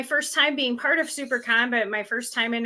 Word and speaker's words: SiouxperCon: September September is always Super Con weekend I know you've heard me talk about supercon before um that is spelled s-i-o-u-x-p-e-r-c-o-n Super Con I should like throw